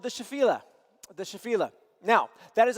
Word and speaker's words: Shephelah: It's pronounced Shephelah. Shephelah. How I'm going to probably pronounce it sometimes is Shephelah, because that's how I first heard it. That's so wrong. Or Shephelah.